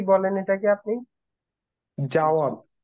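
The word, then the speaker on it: জাওয়াদ: Date, আর এটা কি আমি এটা, করবো নাকি অন- আচ্ছা আচ্ছা করুন, আপনার নামটার প্রোনাউন্সিয়েশন কি কি বলেন এটাকে আপনি? জাওয়াত। জাওয়াত, জাওয়াত।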